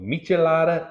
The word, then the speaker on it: michelada: references on the web it is pronounced with a CH and not a k so michelada it is all right